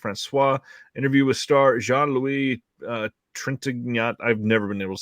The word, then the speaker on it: Trintignant: Interview with star Jean-Louis Trintignant. I've never been able to say his name properly. Were you going to say it? I think it's Trintignant, isn't it? Trintignant? Okay, just exactly how it's spelled then.